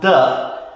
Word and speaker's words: de: Today we will concentrate on the contraction of the definite article with de. Now remember, de, which is pronounced the, is a preposition.